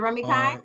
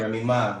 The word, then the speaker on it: Remy: So Remy Kai, is it Remy Kai? Yeah, you pronounce. You actually got that right. Remy Ma, yeah, like Remy Ma.